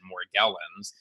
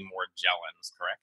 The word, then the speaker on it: Morgellons: hear people pronounce it Morgellons but it is actually more Gellin I'm not sure why some people say Morgellons it sort of surprises me because after all the Explorer Magellan very similar name we always say Magellan